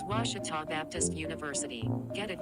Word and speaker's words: Ouachita: How would you pronounce it? Ouachita. Ouachita. It's Ouachita Baptist University. Get it right. It's Ouachita, people.